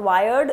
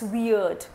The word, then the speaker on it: weird: England it's not Canada it's Canada it's not wired it's weird weird weird means awkward annoying I hope you